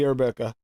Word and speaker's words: Arabica: VSO espresso, VTA coffee arabica, Wonder Flavors amaretto. The ice cream is Liquid Barn vanilla bean ice cream. Did you just say coffee Rebecca? I'm pretty sure it's pronounced Arabica.